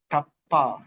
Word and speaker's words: tapa: The voice was tapa, two syllables. Ta pa, ta pa, tapa.